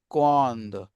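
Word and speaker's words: quand: हूं कि आप इसको थोड़ा सा अधा प्रोनंसिएट करें क्वांद देन कम्स वाई पुख्वा यह क्वांद होता है व्हाई व्हेन और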